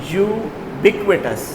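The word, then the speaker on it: ubiquitous: Okay today we are starting from vocabulary and इड्स how would we pronounce this word yes यू can pronoun it एज यू बी यू बिक्वेटस यह हमारे पास adjective है।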